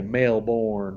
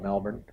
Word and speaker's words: Melbourne: as far as the regions, like you've got people that say Melbourne, right? And then you got people that say it right, Melbourne.